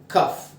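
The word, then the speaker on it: cough: ميديسين 3 syllables والاي في الاخر سايلنت. كحه كف، كف الاو سايلنت، والسي مع اليو ك، والجي اتش ك، كف.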